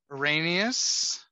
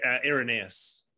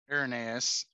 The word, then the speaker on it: Irenaeus: duncan talked about um arrhenius i would say you pronounce it irenaeus irenaeus um latino's name justin